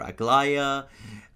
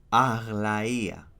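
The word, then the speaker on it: Aglaea: Now the name of this character has been pronounced very differently in the game and they keep calling her Agia or Agllaya and the right pronunciation is Allaya Ala which basically is a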